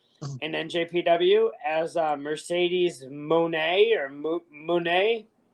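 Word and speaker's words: Moné: njpw as a Mercedes Monet or Monet it's interesting um so the funny part actually is a voiceover pronounces it as money so for me it's Mercedes money so for everybody else's Mercedes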